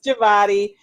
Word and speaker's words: Jevata: Um my first my first name is Jabati.